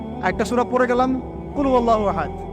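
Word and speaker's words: قل هو الله أحد: এখন দেখুন, এই যে সূরা ফাতিহা, অর্থ বুঝলাম না, একটা সূরা পড়ে গেলাম, কুল হুয়াল্লাহু আহাদ। কি কুল হুয়াল্লাহু আহাদ মানে কি? এটা উচ্চারণই বা কেমন করে করতে হয়? কুল, বলুন, হুয়াল্লাহু আহাদ, তিনি আল্লাহ এক।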